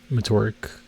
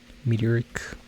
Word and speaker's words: meteoric: I think I was calling it Mtorque and then I looked at it and it's like it's not murk. Yeah, it's like a meteor. So meteoric.